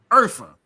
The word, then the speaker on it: Urfa: Or no, it's pronounced phonetically as Urfa.